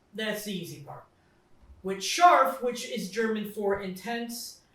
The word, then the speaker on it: Scharf: wife's episode and today we are drinking yeaa Shar did I say it right Shar yeah Shar okay we're good Teresa if you